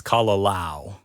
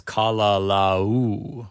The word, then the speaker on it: Kalalau: And when you say kalalau, make sure it's not kalalau. Lao, right? Lao. If you have the A-O sound, it's kalalau. Kalalau. But what you want is kalalau with the U sound at the end. Kalalau.